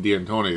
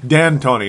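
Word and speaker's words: D'Antoni: mean he's not keeping Dean Tony there are they there's no way Dan Tony not Dean Tony I gota keep saying it wrong apologize to the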